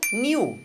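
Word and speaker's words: knew: Passado de to know, new. Você percebe que o k, esse k aí você nem pronuncia.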